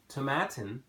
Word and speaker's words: Tomatin: Established in 1897, Tomatin, rhymes with satin, is also one of the highest distilleries in Scotland at 350 meters above sea level.